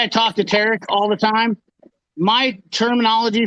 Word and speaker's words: Tarek: Hey, you said Tarek.